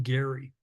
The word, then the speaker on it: Garry: by the name of Joan Gary, and her last name is spelled Garry.